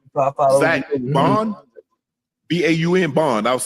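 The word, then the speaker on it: Baun: It's Zach Bond, B-A-U-N Bond. I was saying Bond. Yeah. How do you pronounce it?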